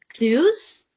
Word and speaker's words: grüß: Did you say grüß? Grüß? Well done. That's correct. Grüß. Grüß Gott.